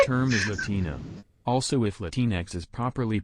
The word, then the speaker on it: Latinx: is Latino also if latinx is properly pronounced in Spanish would be latinish x equals sh sound yeah it's because for